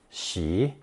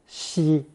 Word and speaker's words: 息: Pronounced second tone xi or first tone xi, this character represents a single breath, that is, one inhalation followed by one exhalation.